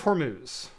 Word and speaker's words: Hormuz: Is it Hermuz? Uh yeah. Straight of Hormuz.